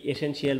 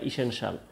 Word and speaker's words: essential: তাহলে মনে রাখো, এই যে একটা জিনিস ESSENTIAL, তোমরা অনেকেই এসেনশিয়াল বলে থাকো, এর উচ্চারণটা ইসেনশিয়াল। পরেরটায় চলে যাই, দেখো এখানে আছে তোমাদের সাফিক্স প্রিফিক্সের ব্যবহার।